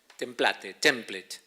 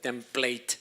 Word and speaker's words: template: Template. Algunos le pronuncian template, pero está mal, es template.